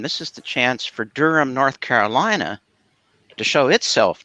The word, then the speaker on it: Durham: that is awesome now how is durham pronounced differently in england well i think we tend to joke around and pronounce it durham here right one syllable i have to say